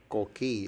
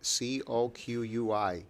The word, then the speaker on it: coqui: YouTube clips of what are they called? Coqui. It's spelled C-O-Q-U-I. Coqui.